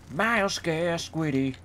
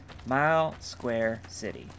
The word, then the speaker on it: Mile Square City: Miles Square Squiddy, also known as Miles Square Squiddy. Nope, Mile Square City. You've got it. You've done it, me. You've pronounced the name correctly.